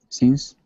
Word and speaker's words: since: Since? Okay, so just watch your eye. You're doing this E still a little, and you should be doing your short I. Eh, fish, since.